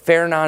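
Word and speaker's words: Fernand: So Feron is the pronunciation here.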